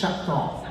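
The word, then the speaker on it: Choctaw: Is it Chakto, Chakto, or Chaktaw? Sabi, it's Chakto.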